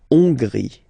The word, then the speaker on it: Hongrie: So remember, H doesn't exist, so you don't pronounce it. So it starts with O-N, on, and then gris. Final E, not pronounced. La Hongrie.